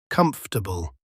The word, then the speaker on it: comfortable: We don't have time for four syllables. We just say comfortable. It's like the O and the A just disappear into thin air.